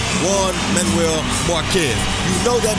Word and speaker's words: Juan: Especially when you hear the name Juan Manuel Marquez. You know that means trouble as soon as the Jar comes out. Although it's pronounced with a W as in one.